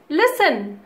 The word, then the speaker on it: listen: सुनो means लिसन, सुनो means लिसन, LISTEN. टी is silent here. Okay, T is silent, so लिसन.